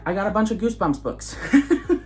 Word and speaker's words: Goosebumps: up all of these Goosebump books Goosebumps books huh Goosebump books or goo Goosebumps books how do you how do you say that okay it's goosebumps in the title with a with an S so the Goosebumps books